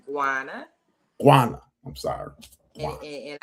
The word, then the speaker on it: Guana: My name is pronounced Giana.